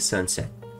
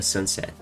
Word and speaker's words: sunset: Então repare, sun é a minha sílaba tônica. Set tá bem curto, não vai ser sunset, e sim sunset. Esse é muito rápido. Então, sunset, sunset. Você tem que dar ênfase no sun e não no set.